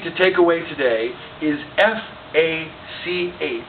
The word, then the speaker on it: Fach: So the word that you need to take away today is F-A-C-H. It's a German word, which is pronounced Fach.